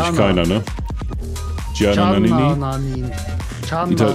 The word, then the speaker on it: Gianna: Gianna, nicht Gianna. Das I spricht man ja nicht aus. Ne? Nee, bei den Italienern wird das I nicht ausgesprochen.